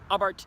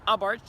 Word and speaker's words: Abarth: start off saying is I Bart's just a way to probably say this car a lot would say Abarth or something like that but the H is silent so it's actually Prince